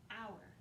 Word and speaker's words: hour: Number seven, hour. Now this hour is sneaky because it's got an H at the beginning that we don't really hear, but this is not the kind that you belong to.